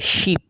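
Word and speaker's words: 십: শেষেরটা হচ্ছে তালেবশ্য রসিকার নিচে আছে প উচ্চারণ হবে শিপ শিপ অর্থ 10 এটা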